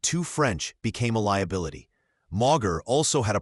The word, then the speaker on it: Mauger: Pronounced Mauger, this Norman name meant council spear.